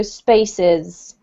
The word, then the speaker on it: spaces: This one, don't forget just to pronounce the S's at the ends of the words, okay? So spaces.